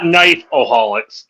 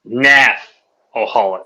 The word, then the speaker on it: KNAFOHALCS: We spell it a little different because we all It's not knife. It's not knifeholics. It's naffholics.